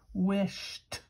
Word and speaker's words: wished: listen to this word wished doesn't sound like Jo it sounds like sounds like T wished so the base